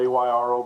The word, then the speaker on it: Ayro: Well, did I pronounce it right, Ayro? You did. It's spelled a little odd with A Y R O, but it is pronounced Ayro.